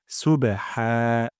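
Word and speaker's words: سُبْحَانَكَ: জাম করতে হবে হবে সুবেহা সুবে সুবে তারপর হাফটি হলো হা এখানে হা গলার মাঝখানটা উচ্চারণ করব যেন এমন না হয়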